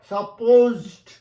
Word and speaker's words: supposed: এই বি ভার্বের সঙ্গে সাপোজ টু যদি যোগ করো, সাপোজড টু, বানানটা দেখো, উচ্চারণটা দেখো, সাপোজ, দন্তস্ব নয়, জয় শূন্য।